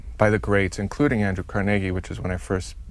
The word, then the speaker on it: Carnegie: do you pronounce it Carnegie emphasis on the middle syllable not Carnegie no no and if